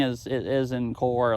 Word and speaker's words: Corps: as it is in Corps, like Marine Corps, but same one. Same. We okay. had an excuse for a president who pronounced it corpse.